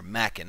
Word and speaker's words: Machen: Both by Arthur Machen. Or Machen, however you want to pronounce his last name.